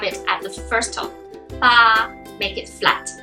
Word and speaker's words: 八: Number 8, 八, 八, 八. So it's very similar to father, 爸爸, but instead of having the fourth tone, you have it at the first tone. 八, make it flat.